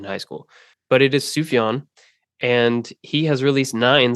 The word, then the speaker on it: Sufjan: hated me in high school but it is sufan and he has released nine solo Studio albums